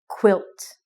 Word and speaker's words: quilt: The other thing that's very important is that you always are very, very strong in your pronunciation about the T sound at the end of the word.